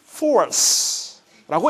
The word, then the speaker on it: force: 영어 정확한 발음은 force라고 얘기를 합니다.